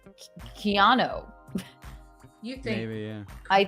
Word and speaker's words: Keanu: and also I think Reeves pronounces it I think it's almost slightly different keano you think maybe yeah